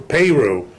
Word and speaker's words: Peru: time um Porter uh was born in Peru Peru as they pronounce it Peru Indiana um and was an